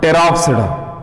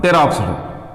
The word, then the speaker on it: Pteropsida: And now Pteropsida, so P is silent. ಯಾಕಂದ್ರೆ ಮೊದಲನೇದ್ದೇ silent ಇದೆ, pteridophyte ಅಂತೀವಿ. Pteridophyte ಅನ್ನಬಾರದು, P is silent here. Like that here also Coelopsida, Lycopsida, Phenopsida, Pteropsida.